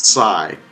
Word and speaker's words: Tsai: And anyways, a lot of people say Tsai, but it's Tsai. Trying to get the T in there.